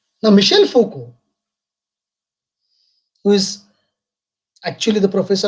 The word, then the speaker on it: Foucault: spellings very correctly so all these are the french names these are not english names and that's why the pronunciation is little bit different than the spellings now michelle foko who is actually the